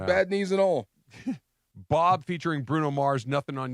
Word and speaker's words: B.o.B: I just feel, I feel like there's a lot should of take you to Bobby Bruno's going on. Mars. B.O.B. I've been corrected that it's B.O.B. and not Bob.